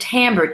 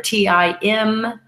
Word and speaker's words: timbre: that you're hearing, and timbre, T-I-M-B-R-E, using the French term. It sounds like as if it's spelled differently, because that's French for you, right?